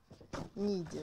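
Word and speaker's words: Niğde: Да, он читается как Нигде. Ниде, да.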